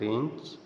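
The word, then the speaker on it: wrench: यदि आर के पहले डब्लू आता है वहां डब्लू साइलेंट होता हैसे रैक रेंच यह हो गया रीत रेसल रिस्ट रंग रिंग रट राइट रीट रेथ रप रथ रक रीत रपर सब में डब्लू साइलेंट है क्योंकि उसके बाद आर आ रहा है कुछ अन्य वर्ड्स भी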